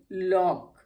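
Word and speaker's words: lock: LOC के लॉक, हम लॉक पढ़ते हैं, C की यहाँ भी कोई जरूरत नहीं।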